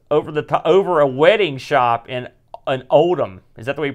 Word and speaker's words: Oldham: And they rented an office over a wedding shop in Oldham. Is that the way you pronounce that? Yeah. Oldham, yeah.